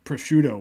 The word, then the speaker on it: prosciutto: But it's spelled like Proscuitto. Yeah. TTO. Yeah. Yeah. So I said proscuitto.